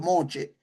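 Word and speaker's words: Moshe: Entonces, moche o moche, que es la pronunciación correcta, en este caso es moche.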